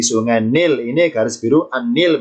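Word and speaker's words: النيل: Ini garis biru An-Nil bacanya.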